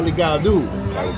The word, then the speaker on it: ligado: In Spanish, it's o. Every single word that ends in an O in Portuguese is u. Tá ligado.